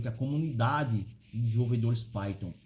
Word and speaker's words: Python: primeiro você precisa aprender como se fala Python né não é Piton é Python tá então Python é uma